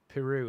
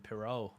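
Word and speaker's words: Perraud: the one Steve Cook Peru is how it's pronounced I don't like that though because we've all been calling him Perot and now it's uh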